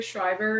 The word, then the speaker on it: Szrejber: yourself okay hi everyone my name is schreiber and the way it's spelled you probably never know that's how you pronounce it but um so i'm